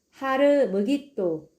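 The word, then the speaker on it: הר מגידו: 원래 발음은 하르므깃도입니다.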